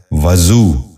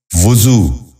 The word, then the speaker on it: وضو: غور سے سنیے، وصول۔ چوتھا لفظ ہے وضو۔ یہ غلط تلفظ ہے، درست تلفظ ہے وضو۔ دوبارہ سنیے، وضو۔ بچوں آپ بھی غور